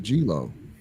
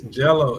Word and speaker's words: Gelo: G3 yeah I thought I thought it was golo see there you go add it's Jello it's liangelo Jello like jello do it